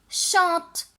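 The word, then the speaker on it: chantent: Mais même s'il y a ENT, je ne prononce pas le NT. Je dis elle chante.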